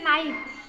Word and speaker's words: know: उसके बाद KNOW, नो, means इसमें भी हम के नहीं बोलते, KNOW लिखते हैं, क्योंकि ये ग्रामेटिकली, मतलब अगर हम व्याकरण से देखें तो KNOW लिखते हैं, हैं बट बोलते वक्त सिर्फ नो बोलते हैं।